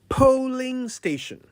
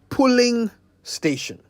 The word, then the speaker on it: polling station: Polling station. Not pulling station. Today's Say It Right is for everyone's attention, especially my colleague journalists, who sometimes say pulling station when they mean polling station.